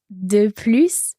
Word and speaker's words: plus: So here, de plus, it's what's more. So here we want to say more. So we hear our S. It's got a kind of positive element. But j'en veux plus. I don't want any more. So here we're meaning no more. No more. Then we don't pronounce the S.